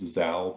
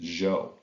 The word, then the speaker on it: Zhou: called the zhou dynasty it looks like it's pronounced zao but it's actually pronounced zhou and it's around for almost 800 years looking